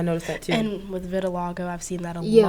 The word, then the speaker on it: vitiligo: And with vitiligo, I've seen that a Yeah, lot, like, yeah. recently. How is it pronounced? Vitiligo?